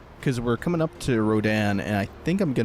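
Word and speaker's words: Rodin: I looked into it the cor the correct pronunciation is Rodan uh based on the French sculptor August Rodan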